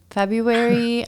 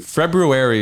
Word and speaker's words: February: February is technically what it is, but I think most people just say February. Yeah. They get rid of that R.